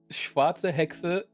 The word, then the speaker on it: Schwarze Hexe: I think Schwarz donated just now, but the alerts aren't really that noticeable. Yeah. But yeah, $10 from Schwarze Hexe BB88. That is how you pronounce it in German.